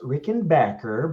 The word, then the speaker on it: Rickenbacker: And it's actually pronounced Rickenbacker, but I won't hold you again.